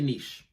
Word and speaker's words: niche: What is a niche? Before we start anything, I want to say that you can pronounce it as niche or niche. It doesn't really matter.